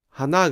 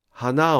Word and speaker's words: 花: 花が、花を、花に、花へ。ここまではすべて助詞のピッチが下がっています。これは植物の花は小高型だからです。